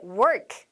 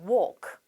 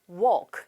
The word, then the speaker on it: walk: 네, work, 일하는 게 아니라 walk, walk 이렇게 발음을 하셔야 되고 원래 5분이라고 하면 5 minutes 끝에 s가 있는 거 아니에요?